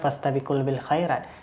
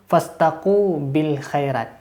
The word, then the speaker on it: fastabiqul khairat: salah menyampaikan fastabiqul Khairat Bapak ini mengucapkan bukan fastabiqul Khairat tapi pasta Kubil hairat itulah suatu yang salah